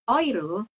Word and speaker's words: Euro: tadi ingat di Kal kita ngomong Euro kita jadinya oiro kalau dch atau De